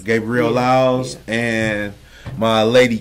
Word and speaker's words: Gabrielle Lyles: with Gabrielle Lyles hey hey hey did I pronounce that right Gabriel Lyles Gabriel Lyles and my lady K I don't know your